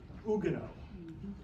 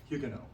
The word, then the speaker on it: Huguenot: the actually would say Ugo the French wouldn't pronounce the h or the t uh but the English